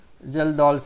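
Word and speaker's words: Kjeldahl: Now we will see the second method, that is estimation of nitrogen, is a Geldahl method. This is also very important. Geldahl's method. K is silent, we can call Geldahl directly.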